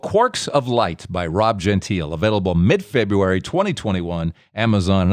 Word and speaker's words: Gentile: And best of luck with the book, Quarks of Light, by Rob, and you pronounce it Gentile?